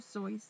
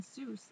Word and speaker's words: Seuss: Theodore pronounced the name Seuss like voice rather than Seuss like Zeus.